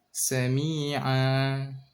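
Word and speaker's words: سَمِيعًا: Basira, alima, sami'a. Jangan ditahan kayak ada hamzah di belakangnya.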